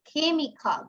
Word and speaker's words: chemical: So chemical, remember, chemistry, chemical. The CH sounds like chemical.